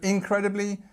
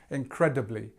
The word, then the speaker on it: incredibly: So incredibly, we've got, again, before the cred part, we've got this. So second syllable again. You'll find this happens a lot. We've got the li at the end again, but we've also got this famous schwa sound. This schwa is the sound, incredibly, doubly.